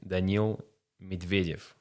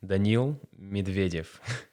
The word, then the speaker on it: Daniil Medvedev: So I should be actually pronouncing the other Russian player's name correctly. It's actually Daniil Medvedev. He says it like that, just Say it again. Daniil Medvedev.